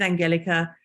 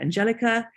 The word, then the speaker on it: Angelica Kauffmann: um first of all there is some controversy as to how to pronounce um Angelica Kaufman's name I am going with Angelica probably because I am half German so um some people